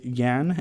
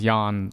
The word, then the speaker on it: Yan: My name is pronounced Jan, but it's okay.